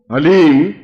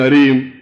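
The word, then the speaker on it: ह्लीं: वो बोले ओम हलीम, बस ये हलीम शब्द बहुत ध्यान से उच्चारण करने देना। HALEEM, हलीम। कोई बोले हरीम, कोई बोले हीम, तो कुछ फायदा नहीं होगा। हलीम, हलीम, ह आधा है।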